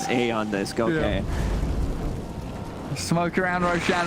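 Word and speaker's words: Aeon Disk: removed from the game e on this pronounce a on this go okay smoke around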